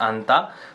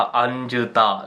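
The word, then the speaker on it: 앉다: तो seat is अंता, तो अब देखो, मैं चाहता तो ज को भी प्रोनाउंस कर सकता था अंजता, something like this, right, but नहीं।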